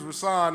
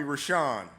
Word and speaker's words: Rousan: So, I'm particular about name pronunciation because my name is Rousan and people always call me Rashan. That's not my name.